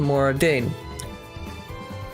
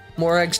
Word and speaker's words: Morag: Aegeon's core crystals to Mora Dane. Of course, I hope that's never necessary. Morag. Morag's descendant. Excuse me, it's pronounced Morag.